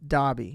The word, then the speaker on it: Derby: in this small town called Derby or the way you're supposed to pronounce it is dbby at least that's what the UK people were telling me and one place that